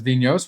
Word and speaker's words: Vinhos: In Vinhos, a Portuguese word pronounced as vinhos, which means wines, you play the role of a wine producer in Portugal.